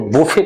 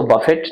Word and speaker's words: buffet: यूज होता है तो इसको बुफे कहा जाता है, बुफे, BUFFET, उसमें इसको बफेट नहीं प्रोनाउंस करेंगे।